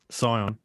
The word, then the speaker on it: Scion: Scion. So Scion, it just reminds me of Zion, but apparently this town is claimed to be the first ever built organ.